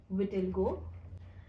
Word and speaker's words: vitiligo: So are you comfortable talking about vitiligo? I've never spoken about it, so this is the first time that Did I pronounce it right?